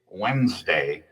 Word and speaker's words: Wednesday: Even though we say Wednesday, I mean that sneaky D is in there tripping us up. I mean, who decided it should be spelled like that anyway? Blame it on history again. Wednesday comes from Woden's day. Woden, a god from Germanic mythology. And the spelling hearkens back to older forms, but over time pronunciation blurred the D sound.